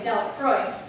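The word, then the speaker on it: Delacroix: mary jones and dickie delawa the villagers pronounced the name dalek freud eventually made a great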